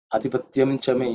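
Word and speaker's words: आधिपत्यं च मे: Actually, it has to be pronounced as ing adhipatyam chami because that is the fifth letter in the cha varga. Okay, anuswara. The anuswara become ing because of the cha in pronouncing, but adhipatyam chami is also acceptable.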